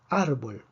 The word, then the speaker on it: árbol: Árbol tiene 2 sílabas, termina en una consonante que no es ni N ni S. Predecimos que la fuerza debería estar en la última sílaba, no lo está. Por lo tanto, escribimos un acento de excepción.